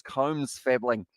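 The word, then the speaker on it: Coombes-Fabling: was able to score i still say his name wrong i believe it's combs fabling if i'm not wrong there but it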